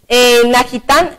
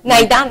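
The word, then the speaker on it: Nahitan: Pérez, Wilmar Barrios, colombiano, Najitán, Iván, Café Fodé, si se dice así, porque como la H a veces se pronuncia como J. Sí. ¿Está bien el nombre? Naidán.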